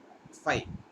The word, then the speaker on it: phi: it is read as pronunciation is like phi right in wi-fi uh like how it